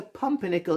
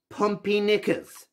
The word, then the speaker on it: Pumpernickel: Professor pumpernickel signing off professor pumpernickel is the correct pronunciation not pompey knickers thank you everybody for